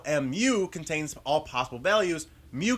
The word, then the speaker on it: Mu: In statistics, the population mean, or average, is given by the Greek symbol Mu, which is pronounced very similar to Mew.